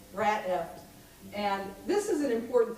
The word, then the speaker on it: Rat F**ked: so but I'm like how do you set pronounce an asterisk so what is it being recorded for community access TV so I'm going to go with the Terry Gross version and say rat eft and this is an